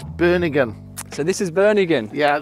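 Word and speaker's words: Bönigen: Now you told me earlier how to pronounce this, right? Bernegen.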